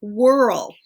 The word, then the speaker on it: whirl: word for spin is whirl and it's spelled with that secret silent H and another one that